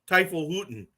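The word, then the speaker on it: Teufelshunde: and in German it's pronounced Teufelshutten.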